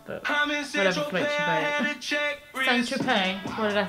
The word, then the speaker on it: Saint-Tropez: So the next song is called Saint Tropes. I should probably say this, you can't pronounce it. Saint Tropez.